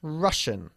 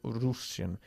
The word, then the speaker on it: Russian: and Russian. Ruso. Exactly. Russian, no Russian. Russian, se pronuncia.